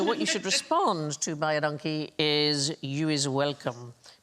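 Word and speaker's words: baie dankie: is you is welcome, because it sounds like buy a donkey, but it's identical to the Afrikaans phrase, which means thank you very much. So, phonetically buy a donkey.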